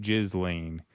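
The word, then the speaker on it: Ghislaine: Kudos gent and Russ it's pronounced jizz lane." Yeah, I like Gillain.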